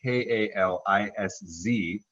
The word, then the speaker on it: Kalisz: It's K-A-L-I-S-Z, pronounced Kalisz.